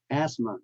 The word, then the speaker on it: asthma: the GH is silence same with Asma asthma the th in the middle is silent and thought the uh